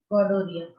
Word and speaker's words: gonorrhea: This is also caused by an agent named Neisseria gonorrhea. Be aware of the spelling. It is having an H which is silent.